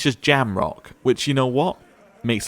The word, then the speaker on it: Jamrock: Apparently it's just Jamrock, which, you know what?